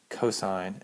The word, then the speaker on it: cosine: Um they're still pronounced even when they're written like this. They're still pronounced s, cosine, and tangent.